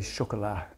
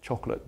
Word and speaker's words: chocolat: from living in France, I'd heard French women say chocolat. It's just like, lodged in my memory forever. There's no better way to describe the melt of chocolate than chocolat. Chocolat, the way Brits say it, is the snap. But nobody's really interested in a snap. We're all interested in a melt.